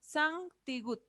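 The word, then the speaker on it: 티읕: Ahora tenemos otra, la Tigut. ¿Vamos? Tigut. Sankyo. Muy bien, Sankyo. Ajá, Tigut. Igual va a sonar como T.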